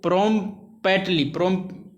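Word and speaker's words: promptly: ही, इसलिए क्या है, इसलिए प्रोम्पली ठीक है, टी साइलेंट हो जाता है इसमें।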